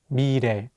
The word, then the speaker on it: 미래: Let's do another example with the word 미래, meaning future. Here, the real consonant is between the vowels E and 에, so it'll have more of an R sound. Let's say it together, 미래.